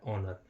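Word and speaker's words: honour: है होनर कोई इसको होनर भी बोलते हैं एच ओ एन ओ यू आर एच ओ एन ओ एच ओ एन ओ यू आर लेकिन ये होता है ऑनर इसका भी हमारे साथ एच साइलेंट होता है और हम इसको यहां से पढ़ते हैं ऑनर ऑनर यानी कि सम्मान ओनर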